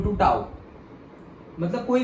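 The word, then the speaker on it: tau: इसको प्रोनाउंस कैसे करते हैं, टाउ, ओके, और से टाउ।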